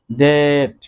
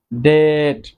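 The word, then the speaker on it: debt: আমরা কারো থেকে যদি ঋণ গ্রহণ করি বা ঋণ নেই, এই যে ঋণ, এই ঋণ এর ইংরেজি হচ্ছে ডেট, ডেট, এখানেও বি এর উচ্চারণ সাইলেন্ট থাকবে।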